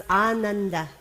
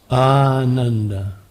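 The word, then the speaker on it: आनन्द: joy Anand everybody pronounce Anand Anand Anand anash good if you don't pronounce the first a long and you pronounce it un it means joyless place or not so good yeah right so ah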